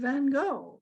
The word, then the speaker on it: Van Gogh: admired greatly by Vincent van Gogh or Van Gogh however you want to pronounce it he he was really